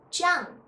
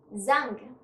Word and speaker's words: Zhang: name is zhang zei h a n g chang you cannot pronounce as zang so it is so so basically you see